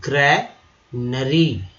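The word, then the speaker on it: granary: अब देखिए ये वाला जो ए है इसका उच्चारण जो हुआ आकार की तरह, जबकि ये वाला जो ए है इसका उच्चारण हुआ अ की तरह, ठीक है। कैसे मैंने बोला, ग्रैनरी, आर वैसे री हो गया।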